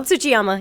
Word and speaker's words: Tsuchiyama: Is that how you pronounce that? It's Chiyama. But close. Tsuchiyama? Tsuchiyama, yeah.